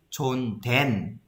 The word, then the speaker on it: 존댓말: Okay, we pronounce this as 존댄. Okay, parang N. But yung actual writing niya is S. But when we pronounce N, 존댓말.